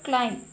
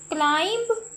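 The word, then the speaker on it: climb: Next है word क्लाइम। क्लाइंब नहीं पढ़ते हम इसको। इसको हमने पढ़ना है क्लाइम। क्लाइम। ठीक है? बी नहीं आगे पढ़ना। तो यह बी जो है इसमें साइलेंट है।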